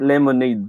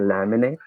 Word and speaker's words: laminate: Look, if you can't lemonade these papers for me, then I'll go somewhere else. Do you mean laminate? See this conversation? The word laminate is mispronounced to be lemonade.